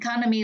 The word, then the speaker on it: economy: Economics là âm ba. Đừng có lộn với economy là âm hai nhá.